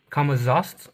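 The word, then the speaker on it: Camazotz: The luchadors and him fighting the Kamaz Kamaz.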